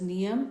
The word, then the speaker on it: Nayam: As a matter of fact, Nayam is pronounced as Niyam and thus the number of letters become 24.